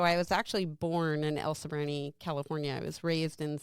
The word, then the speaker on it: El Sobrante: pronounce this the way you told me to pronounce it, El Sobrante.